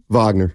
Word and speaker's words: Wagner: what is it Von Wagner problems I don't pronounce his name fron and V oh yeah Vagner yeah Vagner help me out